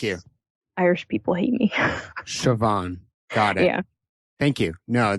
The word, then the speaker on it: Siobhan: you if I don't but it's shavon so it's like SH and then pH is V thank you Irish people hate me siobhan god yeah thank you